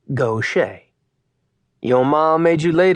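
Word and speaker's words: Gautier: shared his name, and both were pronounced Gocha.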